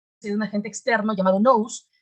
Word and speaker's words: nous: un agente externo llamado nous que se pronuncia como luz que es una inteligencia